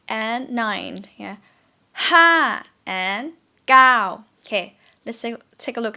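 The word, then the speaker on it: เก้า: in english number nine gao gao in thai script you can see it started out here but we pronounce it pretty long here right gao gao please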